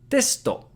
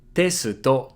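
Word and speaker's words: テスト: Testo. Tesuto. So here we can devocalize the su in the middle and it makes testo. Testo.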